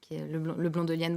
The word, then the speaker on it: Leblon-Delienne: on fait alors nous avons un site marchand leblon-delienne points comme vers le mont jolienne c'est quasiment comme ça se prononce sauf que le blond ya pas de